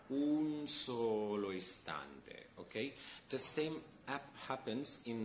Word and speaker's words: un solo istante: We don't have to pronounce the N at the end like an entire N, okay?